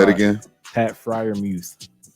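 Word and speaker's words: Freiermuth: saying his last name friar muse say it again pat friar muse you're saying it right though i mean it's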